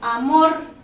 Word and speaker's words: amor: Amor. Amor. Se carga la voz en la última sílaba. Cuando se carga la voz en la última sílaba, aquí lleva el número 1 y es una palabra aguda.